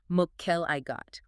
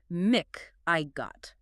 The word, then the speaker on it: McElligott: Yes, it tells us the ending is pronounced got like the phrase got it. Mel I got or m I got.